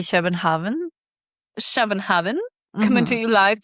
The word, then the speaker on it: København: Well, in Norwegian, you say København.